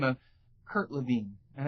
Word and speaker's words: Lewin: of Kurt Levine, and it's spelled Lewin, so it's really hard to figure out, but it's Levine. That's the way he pronounces it. And I think his mother pronounced it that way too.